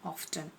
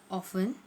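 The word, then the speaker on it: often: सो ऑफन, आप ऑफ्टन भी कह सकते हैं, ओके।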